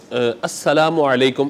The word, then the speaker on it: السلام علیکم: یاد رکھیے گا کہ السلام علیکم یہ درست تلفظ ہے اس کا۔ بعض لوگ السلام علیکم یا السلام علیکم اس طرح سے کہہ رہے ہوتے ہیں، تو یہ نہیں، بلکہ السلام علیکم اس طریقے سے درست سلام ہو، اور جواب پھر وعلیکم